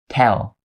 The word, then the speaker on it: tell: Now listen to the way that I pronounce both of these words. The first one is tail, tail. The second one is tell, tell. Hear the difference?